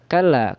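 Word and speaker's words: كلا: Nah, kalla. Kalau lanya itu adalah mad jaiz munfasil. Berarti dibaca panjang empat harakat. Jadi bacanya kalla ya empat harakat atau empat ketukan.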